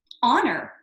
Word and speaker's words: honor: Do I pronounce this first one as honor? Oh no, that does not have a consonant sound. It's as if the H is silent. Honor, because honor starts with a vowel sound.